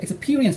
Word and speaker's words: experience: 지금 자꾸 경험이라는 단어의 발음이 익스페로 나오는데 익스페로 나오는데 익스피로 나와요. 아, 익스피. 그리고 그러면 네. 이 익스페가 이제 철자가 연결돼 있으니까 자꾸 익스페로 나오잖아요. 그걸 주위에서 익스피로 가고 바로 R을 받아야 되니까 익스피리언스 하면서 혀를 빨리 움직여야 돼요.